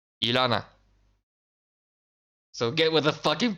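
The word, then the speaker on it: Illyana: Why do Americans pronounce her name Iliana? It's Ilana. Repeat after me, class. Ilana, not Iliana.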